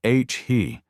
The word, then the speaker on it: ahi: Big-eye tuna or ahi tuna, pronounced H-he.